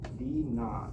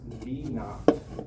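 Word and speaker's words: v naught: velocity in the metric system is measured as 9.8 t plus v kn this is pronounced v kn.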